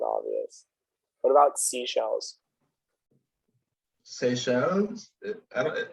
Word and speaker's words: Seychelles: What about seashells? Seychelles? I don't. How's that pronounced? It's in the Caribbean. It's French. It's Seychelles.